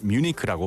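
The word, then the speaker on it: Munich: 정답은 아니라서 제가 이렇게 프리리하게 말씀을 드릴 수 있지만 뮤니크라는 거는 American English로 뮌헨을 뮤니크라고 발음을 하죠.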